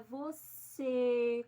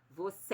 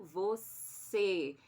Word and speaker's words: você: bem então por exemplo quando a gente fala você a gente pronuncia você com esse fechado se fosse aberto seria você é fechado você então lembra que esse